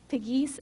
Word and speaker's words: Pegues: I know that, I think it's Miss Pegues, I'm not really sure how to say her name, P-E-G-U-E-S, is over y'all's food center. Pegues. Piggies, okay, is over your food center program for this summer.